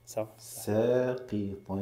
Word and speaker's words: ساقطا: انتبه لهذا نطق السين ساقي ساقي حرف مرققة مع أنه يعني متبعة بحرف القاف، لكن القاف مفخمة والسين مرققة. ساقي والمد كذلك بعد اللام، هذا مهم.